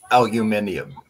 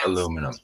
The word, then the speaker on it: aluminium: Aluminium, not aluminum, bitch.